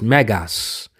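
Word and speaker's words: μέγας: this word here, the great in Greek is pronounced Megas, which is the same word for the fifth degree of the Church of Satan.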